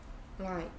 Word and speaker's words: light: 소리 안 나는 GH. Like, 흐트 아니고 Light.